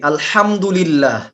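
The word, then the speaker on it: الحمد لله: তো আমরা প্রথম আয়াতটাতেই আলহামদুলিল্লাহ, আলহামদুলিল্লাহি রাব্বিল আলামিন এটা পড়ার সময় হা উচ্চারণ করতে পারি আমরা কয়জন?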